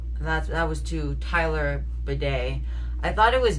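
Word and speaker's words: Badie: That's That was to Tyler Bedet. I thought it was Batty, but apparently Tyler changed the pronunciation of his last name to be Bedet,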